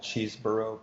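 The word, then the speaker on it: Cheeseborough: clamp these are called cheeseboro clamps that's like cheese with burrow on the end if burrow is spelled b-o-r-o-u-g-h great english spelling and what they allow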